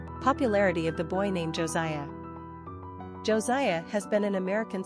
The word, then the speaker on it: Josiah: Quick facts on Josiah Gender, boy Origin, Hebrew Number of syllables, 3 Ranking popularity, 69 Pronunciation, Josie-y-ee-ah Simple meaning, healed by God, supported by God